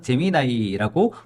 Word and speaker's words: Gemini: AI 재미 아이를 선보였습니다 어떤 론에서 재미이고 호칭하기도 하고 또 어떤 기사에선 재미 나이라고 부르기도 하는데 원어 발음이 재미 나이가 맞으니까 앞으로 재미 나이로 부르도록 하겠습니다 이세돌과의 세기적 대결을 통해서